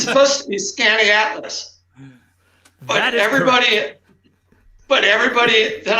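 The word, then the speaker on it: Skaneateles: name of this lake right well it's been mispronounced all the time it's supposed to be scanning atlas but everybody but everybody that i know and in syracuse they say skinny atlas correct yes so we're going to give you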